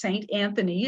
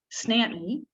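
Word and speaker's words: St. Anthony: town very north uh if we are all saying it's saint anthony it's a four syllable word but in newfoundland it's two syllables snapnee snapnee is where we're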